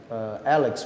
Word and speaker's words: A-Lex: of your new CD Alexa how do i pronounce it Alex will Alex Alex yeah it means unlawful or